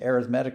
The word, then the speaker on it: arithmetic: sequence called arithmetic notice it's spelled like arithmetic but you pronounce it differently so this is an arithmetic sequence and by definition